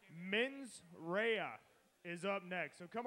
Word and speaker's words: Mensera: off that's because I have gotten the correct pronunciation men's Raya is up next so come on give it